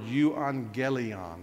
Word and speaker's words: euangelion: That's right, but the A and the double G has a pronunciation of an.